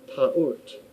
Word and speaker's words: Taurt: Originally, the terms denoted the ancient stellar goddess Taurt, pronounced Taurt. Her name can also be rendered Taurat, Tauret, Tarut, and so on.